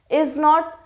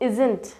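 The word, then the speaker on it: isn't: हो जाएगा ठीक है इज नॉट में भी टी साइलेंट रहेगा इजन इजन कहेंगे इजट नहीं इजन यहां पे आरन ठीक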